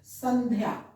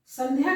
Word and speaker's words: संध्या: इसी तरह से सभी में हम, हाँ एक बात और यहाँ बता देते हैं, संध्या। संध्या का उच्चारण कर रहे हैं तो यहाँ क्या है, ध है, इसका पंचम वर्ण क्या है, न है।